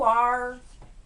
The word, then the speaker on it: are: Esquece que esse E existe e pronuncia a palavra ar em português.